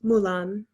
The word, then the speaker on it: 木蘭: um and it's pronounced mulan so yeah the same name as the warrior princess which means magnolia which